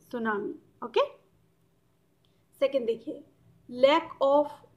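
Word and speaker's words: tsunami: ठीक है, सुनामी एक ऐसा वर्ड है, जापानीज वर्ड है, स्पेलिंग आप देख रहे हो, टी साइलेंट है, TSU सू और NAMI नामी, सुनामी।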